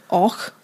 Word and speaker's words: Avoch: That's not how Scottish place names work. You know that. No. Och, spelled Avoch. Yeah, that confused me till I was in my mid-teens.